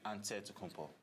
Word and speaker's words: Antetokounmpo: a dead compo but in the greek way you say with the nt like antetokounmpo whatever you got just